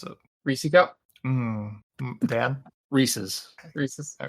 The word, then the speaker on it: Reese's: yeah you know Mark people have drawn the Line in the Sand about how you pronounce it but it's it's not it's not reesi Witherspoon that's all I say I've never heard that